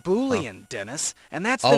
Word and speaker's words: boolean: It's pronounced boolean, Dennis.